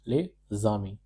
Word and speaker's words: les amis: This particular word is pronounced as les, and this particular word is pronounced as ami. However, because of this liaison rule, the rule is when a word ends with a silent consonant, here S is not pronounced, and the next word begins with a vowel A, E, I, O, U. The next, or Y, the next word is beginning with a vowel A. Then we link the consonant of the